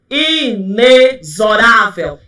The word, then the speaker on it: inexorável: Inexorável? Nunca! Corretamente, inexorável.